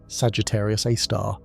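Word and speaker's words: Sagittarius A*: We call it Sagittarius Aar, pronounced Sagittarius Aar.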